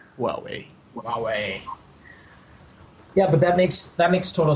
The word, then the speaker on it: Huawei: I'm sorry to interrupt, but it's Huawei. That's the best thing I learned at CTIA. Huawei. Yeah, it's pronounced Huawei. Huawei.